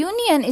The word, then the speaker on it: union: So, answer is, even if union begins with a, u, this is because the pronunciation begins with y-u, a consonant sound.